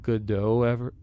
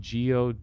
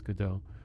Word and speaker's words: Godot: and stuff it's the good dough editor it's spelled g-o-d-o-t some people say go dot but apparently it's good though another one who uses